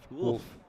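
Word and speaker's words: Wulff: How do you spell it? W-U-L-F-F. Wolf.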